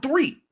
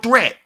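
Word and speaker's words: Threatt: for the charlotte hornets siddell threat is spelled threat but he says his street siddell three she was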